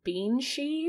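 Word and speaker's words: bean sí: So the word banshee comes from the Irish term beanshee, which is, pronounced just like that. It's like banshee, which translates to woman of the fairy mounds or woman of the mounds.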